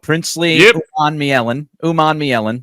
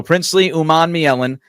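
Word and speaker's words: Princely Umanmielen: I will pronounce the name because I know Greg will screw it up. Princely Uman Mielen. So Princely Uman Mielen to go along with a couple of other guys, Greg.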